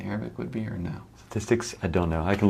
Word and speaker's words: statistics: do uh statistics dicks statistics statistics um that tis tis in the middle is the probably the toughest part so it's tis ticks make sure you get that middle part um statistics is this